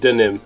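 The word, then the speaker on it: Deauxnim: Elise Diaxnim. Deoxys. It's pronounced denim.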